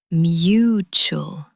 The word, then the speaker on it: mutual: Focus on the ch sound in the middle. Mutual.